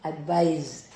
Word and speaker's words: advise: Whereas SE here should be pronounced Z. So, that's advise.